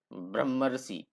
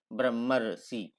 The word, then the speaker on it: ब्रह्मर्षि: तो ब्रह्मर्षि अंत में देखिए, इसको आप गौर से सुनेंगे उच्चारण करेंगे तो अंत इसमें बीच में अर आता है, ब्रह्मर्षि ब्रह्मर्षि अर आता है इसमें।